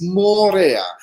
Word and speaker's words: Moorea: is the island where this hotel is it's Mora it's spelled m o o r e a and